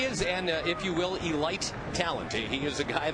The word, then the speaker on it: Elite: And actually, we're told it's pronounced Elite as in Delight from back in the day.